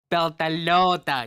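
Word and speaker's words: Beltalowda: Beltalota.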